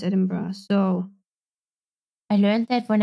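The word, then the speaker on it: Edinburgh: been informed it's been edin bra you you pronounce Ed Ed bra yeah it's not it's not edin B it's edin bra so I learned that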